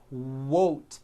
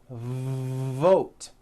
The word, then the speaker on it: vote: sounds for w sounds be careful not to do this the word is not worth it's vote every v that you